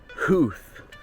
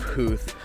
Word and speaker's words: Howth: and today we are going on a day trip to Huth, I believe is the right way to pronounce it. But yes, we are going to the sea town village of Huth and we're going to